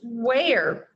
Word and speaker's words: where: would go where is the word okay it's pronounced where like where did you get that soda from